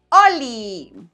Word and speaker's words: Holi: Recuerda que la H es muda. Se dice Oli.